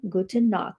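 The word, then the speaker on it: Gute Nacht: Guten knock.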